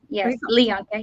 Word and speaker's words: Lianka: And is it Lianka? Is that how you pronounce it? So I know. Yes. Lianka.